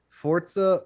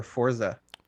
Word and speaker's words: Forza: a month out is forza forza or forza motorsports it's forza forza motorsport i will bet you that that's how it's pronounced there's an invisible t in there it's italian forza that's why it's got